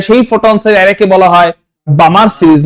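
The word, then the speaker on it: Balmer: ফোটসের এরেকে বলা হয় বামার series not বালমার বামার এলটা silent B এল এমই আর বামার যদি করতে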